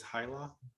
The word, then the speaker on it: Hyla: Is that, am I pronouncing that right? Witness Hyla? That's correct, Your Honor. Okay, Hyla.